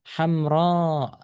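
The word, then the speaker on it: حمراء: Mamdudah. Panjang. Dibaca hamro. Hamro.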